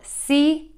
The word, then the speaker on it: comb: This word is a very easy lesson today because we have a silent letter. We are not going to say the B sound. We are not going to say that sound.